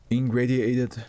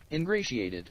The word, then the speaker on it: ingratiated: ING ingradiated myself. Is that how you say it? ing. Ingratiated ingratiated.